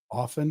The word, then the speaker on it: often: And it rhymes with coffin. often coffin.